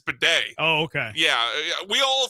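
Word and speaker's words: Badie: It's pronounced because it it reads baddy. It's not bad. It's bedet.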